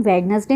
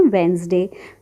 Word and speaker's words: Wednesday: इसको हम वेडनेसडे नहीं पढ़ते, इसमें जो डी होता है वो साइलेंट होता है, इसको हम पढ़ते हैं वेंसडे।